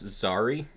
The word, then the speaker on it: Zari: With the way you spelled it, it's Zari.